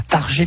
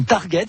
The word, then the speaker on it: Target: Alors, pour certains Bourbonnais, tout le monde sait prononcer le nom de la ville. On est à Targé, bien évidemment. Pour les étrangers, welcome in Target. Non, on est bien à Targé.